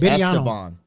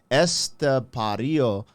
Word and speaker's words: Estepario: I always want to just say Esteban because it just sounds hard. But Estepario. Pario. So, I'm gonna be like, yo, Este, the homie Este, ESTEPARIO Siberiano.